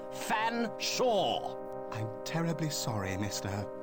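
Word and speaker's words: Featherstonehaugh: S silent e h a u g h fan Sha I'm terribly sorry Mr fan Shaw please accept my sincerest apology very well but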